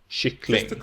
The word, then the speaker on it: kyckling: But, together in a sentence, prosody takes over, and we only stress the final word, kyckling, with accent 2.